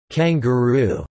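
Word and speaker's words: Kenguru: recovered and most destroyed kangaroo pronounced kangaroo a 4-wheel nerve designed to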